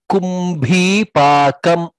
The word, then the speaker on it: kumbhi pakam: Next, in the second line, kumbhi pakam. Pakam, bha is mahaprana there.